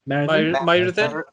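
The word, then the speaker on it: Myrddin: It's Myrdin. Myrdin. Myrdin. Could be Myrdin, yeah.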